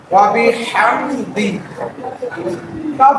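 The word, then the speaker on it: وَبِحَمْدِكَ: হাম, হা কন্টিনিউটি চাপ দিয়ে হরফের মধ্যম শুরু উচ্চারণ করতে হবে। ওয়া বি হাম, দাল জের দি, ওয়া বি হামদি, কাফ জবর কা, ওয়া বি হামদিকা, ওয়া বি হামদিকা।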